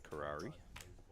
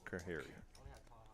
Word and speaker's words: Kahari: Nicole with another fan out there, Karari. I think I butchered up your name right there a little bit. Kahari? How would you pronounce that, Kyle? Kahari? Kahari. Yeah, it's Yeah, seems pretty reasonable.